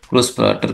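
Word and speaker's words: Großvater: बाद में है example ग्रॉस water next example है दोस्तों ग्रॉस पार्टर वी को वेब की तरह प्रोनाउंस करते हैं तो ग्रॉस वाटर ग्रॉस पार्टर का मतलब होता है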